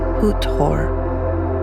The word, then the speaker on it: Hathor: Western Egyptology transliteration, which strips vowels and simplifies for modern tongues, calls her by Hathor. But the Kemetic pronunciation used in many African diasporic spiritual circles and Kemetic traditions, her name is pronounced Het-Heru.